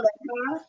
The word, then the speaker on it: Legba: Legba, Legba.